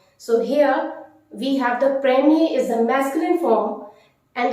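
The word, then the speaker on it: première: is uh the how to say first it's premiere it's premiere so all the ordinal numbers first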